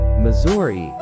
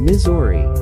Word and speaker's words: Missouri: Missouri locals pronounce their state's name in a range of ways, such as Missouri, Mus or Ah, and even Missouri.